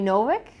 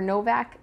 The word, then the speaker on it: Novik: is uprooted by naomi novik um novik or novak that's how i think how you pronounce her last name this i believe is